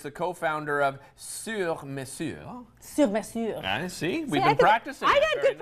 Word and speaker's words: Sur Mesure: Sur Mesure. See, we've been practicing. I got good pronunciation according to Francois.